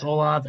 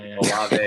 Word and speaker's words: Olave: Chris Olave and Garrett Wilson. I said it wrong. Yeah. Olave.